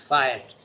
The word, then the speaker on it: fiat: Okay, by the way, the word is pronounced fiat.